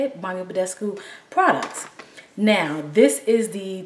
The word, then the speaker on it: Badescu: So, I finally pulled out my Mario Bescu, that's how you say it, Mario Badescu products.